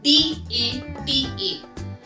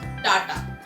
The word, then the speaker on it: data: sound करता है अगर किसी को उसका actual pronunciation पता है. So the word is comfortable. The third word on the list is D-A-T-A. It is not data, it's data.